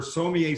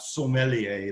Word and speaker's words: sommelier: currently studying for her so me a certification through the Court of Master Sommeliers and by the way it is so me a it is not so Mellie a like people often mispronounced so one of the